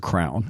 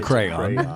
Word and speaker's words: crayon: Well, if you're from Baltimore, you say it's a crown. No, but it's a crayon.